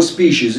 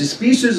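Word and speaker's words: species: بيسموه النوع او الابيس سبيسز او سبيشيز نطقين صح بس سبيسز اصح لانها بريتش فاجرو بكتيريا تيي فيسن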